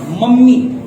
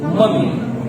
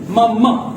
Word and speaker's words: mummy: तो pronunciation will remain the same, the consonant will not be repeated. अगर Google पर जाओगे और सर्च करोगे प्रोनाउंसिएशन को, तो वहां भी तुम्हें मम्मी, मम्मा नहीं सुनाई देगा, it will be मम्मी, MUMMY मम्मी।